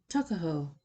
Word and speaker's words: Tuckahoe: Eastern Shore men usually pronounce the word took as tuck. Tuckahoe, therefore, is, in Maryland parlance, Tuckahoe.